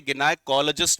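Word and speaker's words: gynecologist: First vocabulary is गायनेकोलॉजिस्ट, जिसको मैंने pronunciation book के अकॉर्डिंग गिनाइकोलॉजिस्ट भी बताया था।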